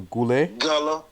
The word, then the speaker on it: Guale: that again gula or goulet well that's how they say it but you know okay the guale society was shattered by